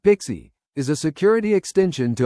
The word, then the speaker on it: PKCE: PKCE, which stands for proof key for code exchange and is pronounced Pixie, is a security extension to OOTH 2.0 defined in RFC 7636.